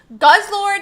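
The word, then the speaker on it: Guzzlord: It is Guz Lord EX and Nagatal. Naganatal. I was asking them how to pronounce the Pokemon's name, guys.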